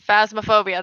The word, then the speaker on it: Phasmophobia: totally play God, how do I pronounce it? Phasmophobia.